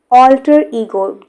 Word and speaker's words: alter ego: Alter ego, two syllables, all and E, alter ego.